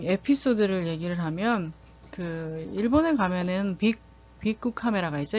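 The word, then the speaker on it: ビックカメラ: 하나 좀 에피소드를 얘기를 하면 일본에 가면은 빅쿠 카메라가 있죠. 일본어로 빅 카메라라고 하는데 이제 일본어로 발음을 하면 빅쿠 카메라예요.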